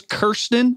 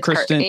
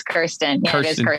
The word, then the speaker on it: Kirsten: your team calls you like so it's kirsten yeah that's how you pronounce it kristen okay it is kirsten but yeah everybody calls me or at